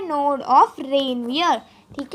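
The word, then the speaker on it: Ranvier: इसे बहुत लोग रणवीर के नाम से भी बोलते हैं, तो नहीं, ये रणवीर नहीं है बेटा, ये है रेनवियर। प्रोनाउंस करो, रेनवियर।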